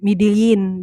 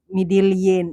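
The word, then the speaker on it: Medellín: also a place called Medellin. In Colombia, it's Medellin, and they say Medellin, Medellin. But here in Cebu, we say Medellin, so it's like kind of different. It's just the same spelling.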